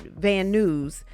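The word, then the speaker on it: Van Nuys: Agent Cersiello says to and from Las Vegas to Van Ny. He pronounces it van news.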